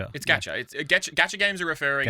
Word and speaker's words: gacha: Is gacha the right pronunciation? Gacha. Gacha. It's gacha.